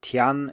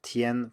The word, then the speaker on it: tian: A more clear-cut example maybe is the final IAN, which is pronounced yen, even though it's spelled with an A, and many students simply forget this and say tian instead of tien, for example.